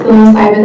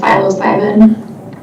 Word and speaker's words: psilocybin: I've heard it pronounced both ways, psilocybin and psilocybin.